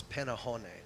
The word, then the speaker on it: Pannuhuone: Panahon, how do you say their name? They told us that it's Panahon.